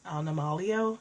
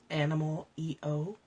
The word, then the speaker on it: Animalio: It's Animalio is how she pronounces it. It's Animal EO, but she pronounces it Animalio from Spain or something.